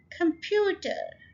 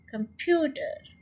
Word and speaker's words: computer: Computer, computer, so stress के किसके ऊपर है, सेकेंड syllable के ऊपर और ये 3 syllable word है. so आप मेरे साथ कहिए computer. कम को बहुत आपने आराम से कह दिया, जल्दी से फ्यू के ऊपर जोर डाला और ठ इन द एंड. कंप्यूटर.